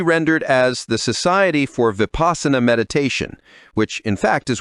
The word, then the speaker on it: Vipassana: The mindfulness meditation I've done has been within a particular school of meditation known as Vipassana, pronounced Vipassana. Vipassana is an ancient word that denotes clear vision and is usually translated as insight.